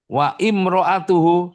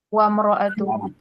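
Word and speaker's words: وَامْرَأَتُهُ: Wabnu Maryam wa imroatuhu. Bacanya apa? Wamroatuhu. Wamroatuhu. Biismibik.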